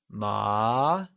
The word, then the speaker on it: má: Ma, meaning hemp, carries the second or the mid-rising tone.